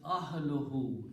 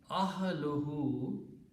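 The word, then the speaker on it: أَهْلُهُ: So when you combine these two words, it will be pronounced as ahluhu, his family. Ahluhu, his family.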